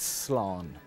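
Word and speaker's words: Slán: one word very simple it's Sloan Sloan almost like coleslaw with the law and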